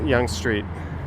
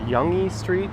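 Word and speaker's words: Yonge Street: I've even heard some actual urbanist YouTubers mispronounce Young Street. Like geez, spend two seconds researching what you're talking about. I've heard Yangi Street, Yong Street.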